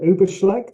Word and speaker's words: Übelschlecht: credited with playing, which is the Yeah, Principal Übelschlecht. Have I yeah, pronounced that Principal correctly? Übelschlecht, yes.